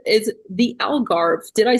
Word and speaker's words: Algarve: So if he's saying it in English is alv, but if you say in Portuguese is agar.